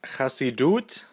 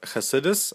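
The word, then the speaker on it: חסידות: We're going to be looking at something that's already somewhat familiar to us, Chassidut, or Chassidus, as it's alternatively pronounced.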